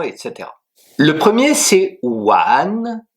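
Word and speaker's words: 完: Le premier c'est one w a n 2e ton qui s'écrit de la manière suivante.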